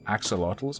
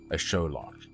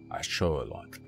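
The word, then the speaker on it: axolotl: that the the amphibious creatures people call axotal are pronounced a show loock a show loock that's pretty cool I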